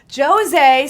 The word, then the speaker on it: José: the Montreal Canadiens though josée spelled like Jose but you know just set a little different NHL of course 4732